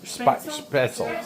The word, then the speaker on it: Spaetzle: And I just forgot how to pronounce it. The German pasta. Spaetzle.